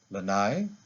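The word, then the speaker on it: lānai: my back is lanai now to the word lanai do you hear the difference lanai lanai now we have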